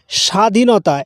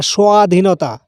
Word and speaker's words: স্বাধীনতা: বা ওয়া ইংলিশে ডব্লিউ বা ভি এর মত উচ্চারণ হয় উদাহরণস্বরূপ স্বাধীনতা এখানে কিন্তু বটাকে আমরা উচ্চারণ করি না এই